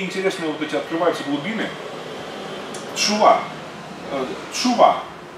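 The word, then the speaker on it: תשובה: Тшува. Тшува. Произносится так, тшува.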